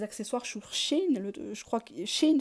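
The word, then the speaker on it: Shein: sur chine je crois Chine c'est ça s h e i n Chine je sais pas si ça se prononce comme ça sur TMU Aliexpress tu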